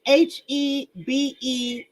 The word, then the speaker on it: hebephilia: I'm not sure how you pronounce it. It's Hebephilia, hebephilia, which means he's a man that likes to deal with girls from the ages of 13 to 17.